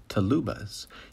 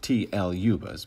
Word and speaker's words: TLUbas: u2 bus or as i like to say to lubas you can also pronounce it tl yubas but really it's only the woodwind people that